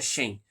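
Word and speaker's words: Shein: A Shen, eu acho que se pronuncia Shen.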